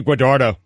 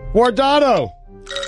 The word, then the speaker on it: Guardado: Eddie Guadardo. Easy, Eddie. Look at me now. I'm getting paper. You pronounced his name wrong. I did not. Guardado.